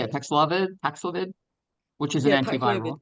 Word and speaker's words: Paxlovid: how to say it, Paxlovid, which is an antiviral. Well, that's how we say it. Paxlovid.